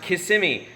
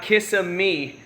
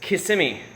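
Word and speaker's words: Kissimmee: in KMI as you guys know and it's pronounced KMI not kissi it's k simy uh mid hin okay Ohio I've been to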